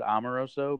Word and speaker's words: Amoroso: yeah oh and do you say your last name pronounce it amaroso but my but no but I I say I go back and forth actually um it's kind